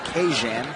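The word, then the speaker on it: Kajan: Johnson this week his first name is to be pronounced Cajun so that super messy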